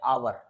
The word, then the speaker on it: hour: जैसे कि यहाँ पे एक शब्द लिखा है आवर, जनरली क्या करते हैं बच्चे, हावर पढ़ देते हैं, HOUR हावर, लेकिन एच यहाँ पे साइलेंट होता है।